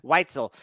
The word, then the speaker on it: Weitzel: Weitzel. I had it. It's funny because I asked you backstage. I'm like, Weitzel, right?